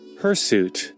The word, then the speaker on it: hirsute: Hirsute.